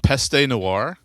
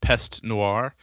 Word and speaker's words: Peste Noire: Uh, Peste Noir or is it just pest Noir? Um, I mean, I think I know is correct, but um, I've always said both. I think either one either one works.